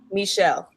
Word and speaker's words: Michel: um i i've known michael for since when did i do it huh michelle i was saying it wrong too all right did i say michael i'm sorry i always want to say michael i know hi honey